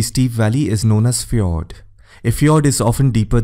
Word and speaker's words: fjord: learn how a fjord is formed it is pronounced as fjord these are a long narrow deep inlet of